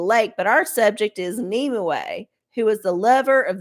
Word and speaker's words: Nimue: Pronounce Nimue.